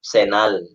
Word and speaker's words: Senal: Ah kaya nung nilagay ko ang pangalan ko na Rquelito Senal hindi nila ma hindi nila ma-pronounce ng buo yung Relito na ilang ano ilang syllables tapos yung Senal ginagawa nilang canal eh medyo mabaho ang